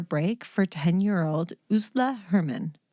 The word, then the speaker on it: Ursula: for 10 year old usla hermann which is spelled like ursula but that's not how it's pronounced or at least that's not how i heard it pronounced in other